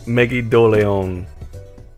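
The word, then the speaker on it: Megidolaon: How do you pronounce that? Is it Megiddo Leon or Megidolan? Megidoleon.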